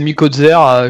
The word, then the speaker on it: Mikozer: Il y a Nicolas Delporte de la chaîne Mykozer ou Mikozer, à chaque fois je sais pas comment prononcer. C'est selon l'esprit de chacun prononce comme il veut. Moi c'est Mikozer, je la prononce à la française, donc chacun comme il veut.